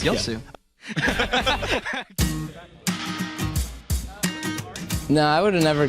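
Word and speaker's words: Yasuo: you would never guess how many more times you mispronounce yasua Yu yasua yosu okay yosu y there we go you're pronouncing wrong it's yosu no I would have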